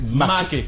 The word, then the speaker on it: Maké: Puisque tu tiens à Maké, c'est Maké.